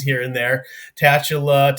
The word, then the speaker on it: Tatula: a little little different pronunciations here and there tatula tatula um but yes we we pronounce it as tatula um and that's like I said that's the